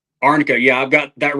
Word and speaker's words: arnica: It's um arnica. Yep. Is that how you say it? Arnica.